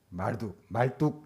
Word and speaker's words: 마르둑: 그 대표적인 신이 벨, 그리고 말뚝 이렇게 여러분 발음해도 괜찮아요.